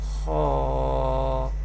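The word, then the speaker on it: خ: Ha, Ha, Ha, Kha, Kha, Kha. Kha is Mustaliya letter and will be pronounced with thicker voice.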